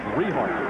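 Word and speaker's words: Richart: All right, let's pronounce the young man's name correctly. It's Rehart, R-I-C-H-A-R-T, the quarterback.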